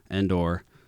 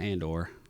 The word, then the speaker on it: Endor: Anyways, so they're using the cargo vessel to sneak onto Endor. Not Andor, guys.